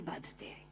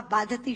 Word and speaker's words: बाधते: कि राजा, मुझे ये भार कष्ट नहीं दे रहा जितना आपके मुंह से बोला हुआ बाधती शब्द कष्ट दे रहा है, क्योंकि बाधते शब्द का अशुद्ध उच्चारण आपने किया है। ये शब्द बाधते होना चाहिए।